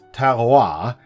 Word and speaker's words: terroir: r o i r which is pronounced Tara which is French and I had to look at what it means cuz I didn't have a clue either apparently the definition of Tera is the complete natural